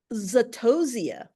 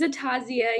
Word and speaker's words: Atazia: Zatosia. Oh, I love your name, and I hope I pronounced it correctly. You're up. Hi, I'm Vinay. My name is Atazia. You are close.